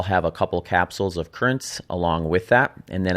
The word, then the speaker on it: Curranz: Currents, which is spelled Curranz, is a pre-workout supplement